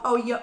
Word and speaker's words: pollo: And then of course you get people in the comments saying, that's not how you pronounce pollo. You know, and then they're telling me like P-O-Y-O, pollo.